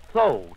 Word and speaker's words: Tho: The next is the invigorating, arousing vowel, tho, T-H-O, with the accent on the T-H.